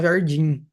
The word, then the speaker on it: jardim: gente coloca um NH venha o m no fim a gente pronuncia como n né então a gente tem Jardim por exemplo né a gente fala Jardim diferente do latim latim